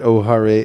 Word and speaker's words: O'Hare: Chicago you know what the name is Chicago Airport is Ohio it's spelled Oh ' har-ee music of course call it O'Hare Airport and proud I